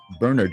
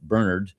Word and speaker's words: Bernard: people might say George Bernard Shaw. Depends upon how you want to pronounce it and what country you're from. The Irish may pronounce it Bernard, and those of us